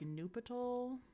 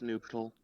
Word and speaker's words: nuptial: Just Okay, some of these are called like Nupital new or patol. Nupital. I don't know how that word is pronounced.